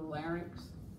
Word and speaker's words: larynx: It is pronounced the larynx, okay?